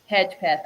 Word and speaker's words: Hedgepeth: But so what makes Caleb Hedgepath?